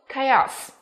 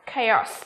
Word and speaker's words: chaos: Đã, chaos là từ rối loạn, sự rối loạn. Chú ý không phát âm là chaos hay là cháo các em nhá, mà phát âm là gì nhỉ? Chaos, được chưa?